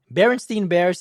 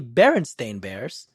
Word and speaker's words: Berenstain Bears: Scotty was never said Berenstein Bears is actually Berenstain Bears yeah that's bull 100